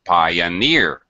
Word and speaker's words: pioneer: low pi and pi pioneer pioneer same thing alright this is a reoccurring pattern where we have a primary stress late third fourth fifth syllable in a word and two syllables in front will have secondary stress it's very common okay